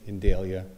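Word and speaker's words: Indeglia: My name is Indelia. Thank you. with the law firm of Indelian Associates telling me how to pronounce it. Thank you. It's a It's a silent G.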